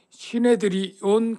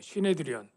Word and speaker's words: 시네드리온: 공회랑 사네드린이랑 같은 뜻이고, 조금 뭐 헬라어인데 뭐 시네드리온 그런 발음이에요. 시네드리온. 사네드린은 히브리어로 발음이고 시네드리온은 헬라어 발음인데 한마디로 말하면 공회라는 뜻이에요.